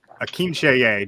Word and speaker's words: Akinseye: All right, next up, Akinseye.